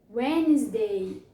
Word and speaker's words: Wednesday: Wednesday, Wednesday, today. Wednesday. Jéssica, por que tem um D bem aqui? Eu não escutei ele. É assim mesmo, ele é mudo.